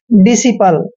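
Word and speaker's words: disciple: पी एल ई ऐसे डि सिपल यहां पे एस के बाद सी आया है तो सी का उच्चारण हमने नहीं करना है यानी कि डि सपल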